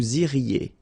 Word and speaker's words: iriez: Vous iriez. remember, when you get this EZ at the end, you get the sound E, okay?